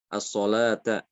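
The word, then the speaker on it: الصلاة: As-sholata. Tulisannya seperti as-sholawatu, as-sholawata. Az-zakata dengan wawu di situ dengan wawu, ya.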